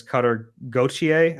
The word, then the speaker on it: Cutter Gauthier: I don't know if you've been following this Cutter Gauthier, I believe is how you pronounce his last name, story, the Flyers dude.